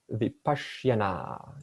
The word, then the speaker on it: Vipassana: Now in Sanskrit, we also have a term called Vipassana. Vipassana, that's a long A at the end, means right knowledge.